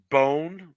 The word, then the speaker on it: Bone: Dude mispronounces Bone, the last name Bone in bowling. He called Brandon Bone Brandon Bond.